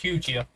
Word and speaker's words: Ceuta: Cutia, it's pronounced Cutia.